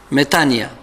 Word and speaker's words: metanoia: qu'est ce qu'une metanoia metanoia est un mot grec qui signifie prosternation parfois on le prononce mais tanya le metanoia est une